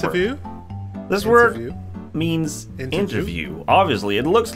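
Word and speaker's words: intervju: it does look like interview to me interview um how do you pronounce it though what is it pronounced this word is actually pronounced interview but interview most sweets pronounce it inter intervie inter inter oh and why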